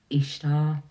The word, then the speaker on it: Ishtar: she said she was this is the cor pronunciation was ishar and she is the